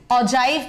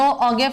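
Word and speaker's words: ogive: Cumulative frequency curve, या इसको ऑजाइव कह दो, ऑगेव कह दो, प्रोनाउंसिएशन में मत जाइएगा, मैं इसे ऑगेव कहती हूं, बाकी मर्जी आपकी, ऑजाइव कह दो, कुछ भी कह दो।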